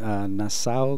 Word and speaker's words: Nassau: I'm from California, and I came to New York today to screen my film here at Nassau Community College. I believe that's how you pronounce it, right?